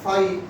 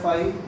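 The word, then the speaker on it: phi: Is another symbol जिसको Greek में बोला जाता है फाई प्रोनाउंस किया जाता है फाई रिप्रेजेंट करा जाता है ऐसे जीरो बनाना सीधी लाइन खींच लेना है।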